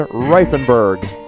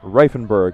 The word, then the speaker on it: Reifenberg: It brings up the left fielder, Ryan Reifenberg. I was told very specifically on how to pronounce that name, Reifenberg with 1 F.